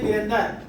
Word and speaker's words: वीरेंद्र: हाँ, उसका नाम वीरेंद्र तो वीरेंद्र नहीं वीरेंद्र। तो that is called MDI, mother tongue influence.